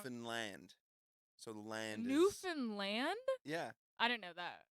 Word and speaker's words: Newfoundland: people from there because we know how to pronounce ER but with everyone else it's everyone says Newfoundland it's land so the land Newfoundland yeah I don't know that yeah known does